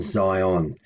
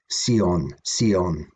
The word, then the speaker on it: Sion: Who that, thonathe, who that erdieth, lives in Zion. And in Old English, that we pronounce Sion. Whereas in modern English, Zion.